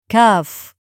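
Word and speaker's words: كاف: Today, we're moving on to the next letter, cuff. We'll look at how it sounds, how to pronounce it correctly, and go over a few easy examples to help you remember it.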